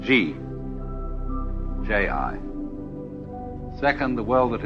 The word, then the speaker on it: Ji: easier to remember than Chinese and easier to pronounce. First of all, the world that is called Ji, J-I.